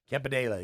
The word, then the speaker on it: Campanile: Campanile, did I pronounce that right? Campanile, yeah.